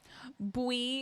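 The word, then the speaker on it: buí: Bui is how you pronounce yellow in Irish, and that's fun.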